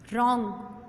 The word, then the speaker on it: wrong: 11th word है रॉन्ग W silent WRONG रॉन्ग लेकिन W क्या है साइलेंट है।